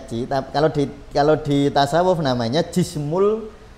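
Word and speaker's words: Qi: Jadi kalau di konteks tasawuf ya, kalau di kedokteran timur ada istilah meridian, ada Ci ya, Ci atau energi, tulisannya iya bacanya Ci.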